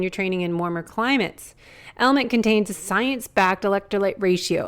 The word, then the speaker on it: LMNT: of our sponsors, LMNT, Element. It's spelled LMNT, but pronounced Element.